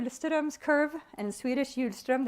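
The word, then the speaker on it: Hjulström: students curve and Swedish huge strum the H is silent so as a conceptual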